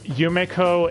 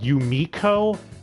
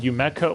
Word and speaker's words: Yumeko: far as any other quirks um i guess yumeko is sometimes called yumiko also called yumeko like they cannot stick to pronunciation at all to save their lives on